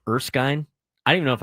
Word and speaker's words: Erskine: Uh, have you ever heard of the college Erskine? I don't even know if I pronounced it right. E R S K I N E.